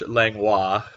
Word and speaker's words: Langlois: In particular, Ronald Yoder Senior Entertainment, and he told me I was pronouncing this the right way, so it's Langlois, and if and anybody